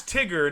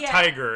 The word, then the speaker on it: Tigger: Well, his name's Tigger, not Tiger.